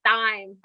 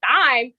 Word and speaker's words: thyme: And I said thyme. I pronounced it as it was, you know, written. I said, you know, with the TH. I said, we have thyme. She said thyme.